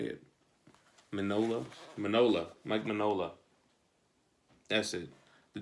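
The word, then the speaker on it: Mike Mignola: Mike Minola. That's it. The G is silent.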